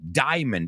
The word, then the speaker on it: diamond: that word with me diamond it's not di write down the word right now and then I want you to cross out the a diamond diamond and and